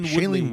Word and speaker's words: Shailene: Miles Teller and how do you pronounce her name? Shailene Woodley.